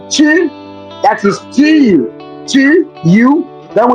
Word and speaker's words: tu: The U sound. It's in Y, like a Y format, but it's pronounced as in tu.